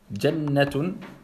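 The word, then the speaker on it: جَنَّةٌ: Jannatun. Là, on comprend bien qu'une shedda, on double la lettre, on la prononce pas.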